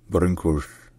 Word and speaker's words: Brâncuși: In Romanian, his name is pronounced Constantin Brâncuși.